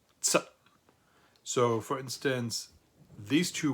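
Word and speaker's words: Zett: this letter Z, and it's pronounced like a plosive, like a Z, like a TS sound if you put T and S together and you add a little puff of air, so it's a plosive sound.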